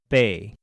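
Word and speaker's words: 八: The number 8 is called bei.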